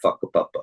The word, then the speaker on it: whakapapa: It's spelled with a W, but it's said whakapapa, which is a Maori word, which talks about our